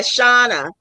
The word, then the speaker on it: Shauna: Shanna. I don't know why I'm going to call you Shanna. Sorry. Everyone call me Shannon, Shonda, everything. Now I Everything. know exactly your pronunciation. Yeah, Shauna. So I'm Shauna, creative stitching diva, and